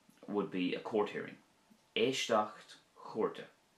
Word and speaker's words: Éisteacht Chúirte: Éisteacht chúrte would be a court hearing. Éisteacht chúrte.